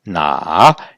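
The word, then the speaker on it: 那: qu'on va juste prendre le caractère qui se prononce na, qu'on verra aussi à la séquence 7 du niveau 1. Ce caractère-là, donc sans la bouche, se prononce na, et on a rajouté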